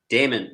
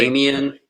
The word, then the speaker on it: Damon: So, Damon, that is how you say your name, correct? Damon. Well, that's how I say it. No one says it like that. People mispronounce my name constantly. Really? Damien.